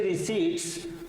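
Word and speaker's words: receipts: economist believe central GST रिसी में Sarpass budget estimates और अर्थशास्त्रियों का विश्वास है कि जीएसटी की जो सीट्स है प्राप्तियां है इसमें आप पी साइलेंट हो करता है ध्यान रखना तो जो रिट्स है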